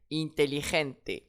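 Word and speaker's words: inteligente: Ici, mon mot se termine par un e, donc une voyelle. Intelligente. Intelligente. Et j'accentue sur l'avant-dernier e. intelligente.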